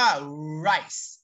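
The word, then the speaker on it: rice: กิน ข้าว นะ ครับ จะ ออก เสียง ว่า ไร่ ไร้ นะ ครับ r i c e นะ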